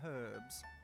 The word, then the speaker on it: herb: The H is silent.